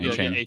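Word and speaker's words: Achane: I say it like you just said it, Devin A-Chain. Devin A-Chain. Just had some conversations with people who don't believe it's A-Chain.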